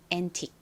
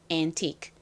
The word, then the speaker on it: antique: 앤틱. 한국식으로는 보통 이거를 앤틱이라고 쓰는데 정확한 발음은 antique입니다. antique. 끝에가 이 크 소리인데 워낙에 작게 발음이 나다 보니까 꼭 받침처럼 들려요.